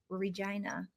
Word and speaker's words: Regina: I'm from Regina. The Interesting. slogan is the city that rhymes with fun.